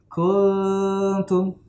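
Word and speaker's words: كنتم: Dia tidak dibaca gunnah utuh, ya. Tidak dibaca gunnah utuh, tapi dia dibaca samar-samar antara izhar dan gunnah, gitu ya. Kuntum. Nah, bukan kalau yang idgham bacanya gini, kuntum. Nah, itu idgham namanya, ya, berdengung. Kalau ikhfa dia samar, kuntum. Nah, bukan enggak izhar, tidak gunnah, tapi antara keduanya itu.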